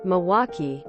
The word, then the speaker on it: Milwaukee: you feel any better most of us don't even pronounce our City's name the correct way it's more Milwaukee we definitely sound lazy compared to how it's spelled as a fellow Italian